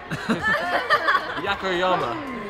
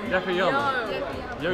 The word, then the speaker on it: Yokoyama: Yakoyama. Yoko Yama. We know why he's not. Like, the less of your names he pronounces, the better.